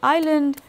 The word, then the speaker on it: island: instance if we take words like Island uh the S is not pronounced there or I the S